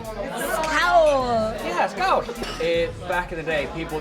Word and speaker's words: skál: Scout. Scout. Scout. Scout. Scout. Scout. Think of like you're saying scowl, like when you're not happy or frowning. Yeah. You say it happily. Scout. Yeah, scout.